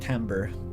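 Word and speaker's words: timbre: can't confirm that it's spelled timber, pronounced tambber.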